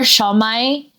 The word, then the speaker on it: siomai: Like, our shawmai. Like shawmai is like a dumpling.